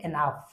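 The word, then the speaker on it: enough: সো অনেকেই মনে করতে পারেন এার স্পেলিংটা হবে বা উচ্চারণটা হবে এনা। আসলে এটা হবে এনাফ।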